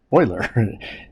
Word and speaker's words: Euler: euler euler's method is the name euler is pronounced boiler even though it looks like euler okay so